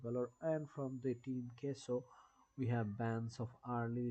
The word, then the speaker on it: Queso: There these teams are Scars and Team Queso. QU is pronounced K in Spanish. I'm going to pronounce it like that. I hope I'm doing it right.